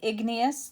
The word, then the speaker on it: igneous: three types of rock so we're gonna highlight igneous that's how you say it sedimentary and metamorphic